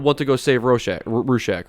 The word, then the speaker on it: Rorschach: to go save rochelle rooshack right how do you say it again i like i like roof shack though it sounds like you want to know about rorschach i'll tell you about rorschach